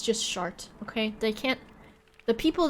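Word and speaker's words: Chartres: here this was so annoying yes it says shart okay and that's how you pronounce it all right that's enough we'll say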